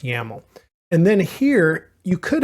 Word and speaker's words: YAML: you can see it's docker-compose.yml which is just pronounced yaml and then here you